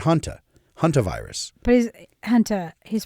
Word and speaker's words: junta: Not junta, not like military junta, not junta, not hanta, but hanta.